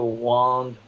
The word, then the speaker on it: Wang: Wong skincare and it's actually my last name is pronounced 1by spelled wang complain she said er